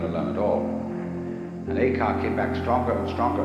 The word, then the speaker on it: Eka: Eka is Japanese pronunciation, like Zen is the Japanese pronunciation of the Chinese Chan.